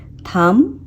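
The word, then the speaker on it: thumb: वह साइलेंट हो जाएगा पर एग्जांपल प्लम यहां पर हम बी को नहीं प्रणाम नहीं बोलेंगे ये होता है प्लम प्लम थम थम थम नहीं टॉम टॉम इसमें हम साइलेंट रखते हैं यह कुरंबा कम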